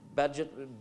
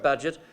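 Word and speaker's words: Bagehot: and essayist water budget I think that's how you pronounce his name Badgett it looks like Bhagu Bhagu or some except between its budget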